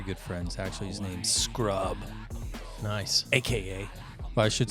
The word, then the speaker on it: Scrub: His name's Scrub. nice. AKA. Well, I should say his name is, AKA Scrub. Scrub and Asa. You should check it out. SCRUB. It just spelled like it sounds, and Asa.